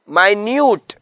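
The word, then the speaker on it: minute: Next word है माइ Newt. Spelling मिनट वाले हैं। लेकिन इसकी प्रोनाउंसिएशन माइन्यूट है।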